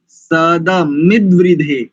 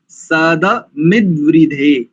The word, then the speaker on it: सदमिद्वृधे: सद नहीं बोलेंगे, सदमिद्वृधे, सदमिद्वृधे। सधा सध सध ध नहीं, द दकार, हाँ सदमिद्वृधे।